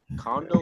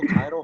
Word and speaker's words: Kaido: anime bro no no no no I said condo kaido however you pronounce it same oh kaido kaido you think